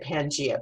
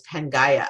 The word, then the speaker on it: Pangaea: I always said Pangea, but it's Pangaea, I think is how you say it.